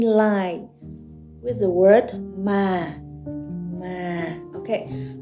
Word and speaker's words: mà: Mà. Okay, for this tone, you should keep your voice at low level.